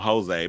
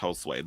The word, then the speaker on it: Josue: like ciao there was some people out here called him Jose but no it's pronounced Josue there was a kid